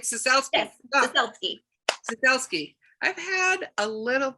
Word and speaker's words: Ciesielski: Yes, Ciesielski.